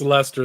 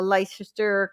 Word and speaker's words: Leicester: I think it's Leicester. They drop all the Leicester.